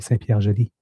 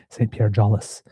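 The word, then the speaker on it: Saint-Pierre-Jolys: went on that trip with us was from Saint Pierre Joly. So that's how I knew that even though it has a S, that it shouldn't be Saint Pierre Jollis, unless that's the way it's pronounced in Manitoba.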